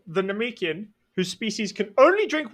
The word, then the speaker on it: Namekian: Namekian. They're from Namek, so they're Namekian.